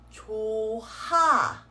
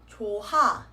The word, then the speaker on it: 좋아: The H consonant does not get carried on. So this word is not read as 좋아. 좋아.